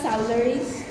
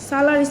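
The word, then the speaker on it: saularis: তারপরে দোয়েল হচ্ছে কপসিকা সালারিস সালারিস না সলারিস কপসিকা সলারিস তারপরে রয়েল বেঙ্গল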